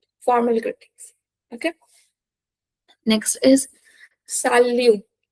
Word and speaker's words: salut: Okay, next is salut, salut, salut. Okay, t is silent here.